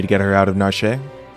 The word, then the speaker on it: Narshe: get her out of narshe I think it's narsh like well but the E maybe the E is silent it's like a marsh but whatever that